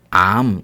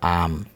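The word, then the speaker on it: עם: 백성이란 단어는 암 이렇게 발음해요. 암.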